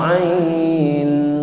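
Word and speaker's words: عين: A harus dibaca ain, disebutkan nama huruf sebenarnya.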